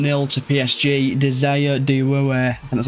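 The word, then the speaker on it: Désiré Doué: Desa Dwei, that's how you pronounce his name.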